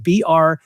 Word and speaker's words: Brevo: So that's why I'm pronouncing it Brevo, because it looks like Bevo with an R in the middle.